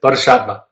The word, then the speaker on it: Bodhisattva: She says, in the way of the I could pronounce it, Bodhisattva, that's it, Bodhisattva.